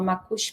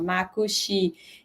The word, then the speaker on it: Macuxi: se chama Macuxi Maimu, do paroxítona, assim, Macuxi Maimu, né? Depois fala Macuxi, né? Tem toda uma questão, assim, de pronunciar direitinho também, porque no português é oxítona, né? Fala Macuxi, e no Macuxi é Macuxi Maimu, enfim.